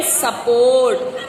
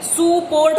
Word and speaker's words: support: सुपोर्ट हो सकता है बिकॉज यू है वहां पे. यस, हाँ, सुपोर्ट करके, बट ऐसे नहीं है. सपोर्ट है, यू साइलेंट है यहाँ पे.